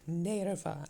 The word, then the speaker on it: Narva: It's Narve or Narva? Okay, Nerva, actually I think it's pronounced.